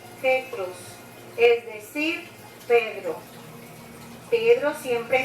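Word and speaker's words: Πέτρος: Jesús conoció su nombre, en arameo le llamó Cefas, es decir, Pedro, y en griego este nombre se pronuncia Petros, es decir, Pedro.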